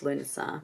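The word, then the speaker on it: Lughnasadh: In Brittany, the Celtic summer festival of, well, it's Lunasa, but they've spell that differently, named after the god, was known as the Festival of Golden Gorse.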